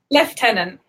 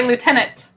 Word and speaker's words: lieutenant: interesting say that again one more time leftenant why is there an F I have no idea we just say lieutenant C that's one word